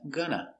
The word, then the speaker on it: going to: going to call me going to is pronounced gonna gunna make the sound very short gonna it's a closed sound